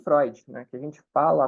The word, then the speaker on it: Freud: Esse fonema aqui, esse EU, por exemplo, ele está lá no nome do Freud, né? Que a gente fala à torta e à direita. E a gente fica falando Freud, Freud, Freud, Freud, mas escreve com EU.